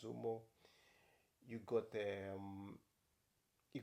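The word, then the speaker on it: Zuma: the Yamaha you got the zom the zum the Zumo the Zumo or the gu that's how you pronounce Zumo you got the um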